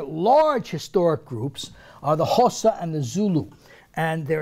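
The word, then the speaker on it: Xhosa: Hossa is spelled with an X, X-H-O-S-A, and of course Zulu.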